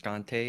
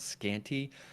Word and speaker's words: Scante: It is pronounced Scante and not Scanty.